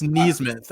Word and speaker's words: Nesmith: And I think that was like my biggest takeaway from him, because even Nesmith, we could talk about Nesmith in a second. Even Nesmith or Neesmith. I think it's Neesmith.